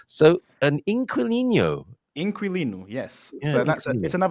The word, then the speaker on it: inquilino: Yeah, but generally we don't pronounce the U, so it just generally most people say inquilino. Inquilino. Oh, okay. Or Inquilino. Yes, pronounced it wrong apparently. It goes against what if you've learnt a QU as a qua, it goes against that, doesn't it? In Queen, so inquilino.